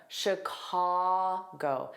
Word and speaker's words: Chicago: So, notice that sh pronunciation. Sh. Sh. And it's an unstressed vowel for that I sh Chicago.